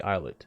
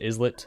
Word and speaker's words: islet: B triple prime, the islet. I think he pronounces it islet. I'm gonna say islet because it's like island.